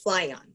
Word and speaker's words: Flyion: fascinating and so that caused you to launch fly on is that how you say it about the